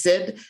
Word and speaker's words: CID: a quick aside uh CAD is sometimes uh pronounced just Sid and I'm going to